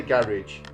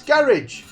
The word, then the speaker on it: garage: You can find Ben at Condorosa Creations or Luke at Luke in the Garage. Everywhere that social media is sold. That's garage, not garage. Say it properly.